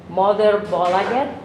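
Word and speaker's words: Moderbolaget: Actually, you still have your own imprint with your own record label, which I hope I pronounce it correct, which is Mother Bolaget.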